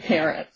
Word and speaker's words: Parrott: But I pronounce his name Parrott.